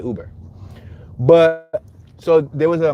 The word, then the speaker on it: Uber: Let's make this left on Uber. Some people call it Uber, but it's spelled Uber.